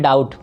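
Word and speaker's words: doubt: यहाँ पे B silent है बाबू, तो इसको पढ़ते हैं डाउट।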